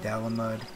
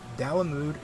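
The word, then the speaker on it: Dalamud: annihilate all life below if I ever switch between damood and Dam mud um yeah I do that damood is a correct pronunciation but I did not find that out for a long time so I may call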